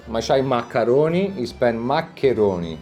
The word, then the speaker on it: maccheroni: You spend maccheroni.